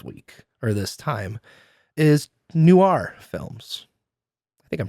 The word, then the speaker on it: noir: Our theme this week or this time is Noir Films. I think I'm pronouncing that right, David. It's Noir. Noir films. Noir. Noir. Noir. The O really makes it it turns into a W essentially.